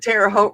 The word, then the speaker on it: Terre Haute: And Terre Haute rhymes with boat.